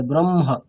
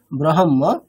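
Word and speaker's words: ब्रह्म: তাহলে উচ্চারণটা কেমন হবে আগে ম তারপরে হ তাহলে ব্রহ্ম ঠিক আছে নট ব্রহ্ম কিন্তু কেমন হবে ব্রহ্মহ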